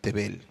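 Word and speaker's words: תֵּבֵל: se pronuncia heret y el mundo en su original se pronuncia tebel por tanto salmo 241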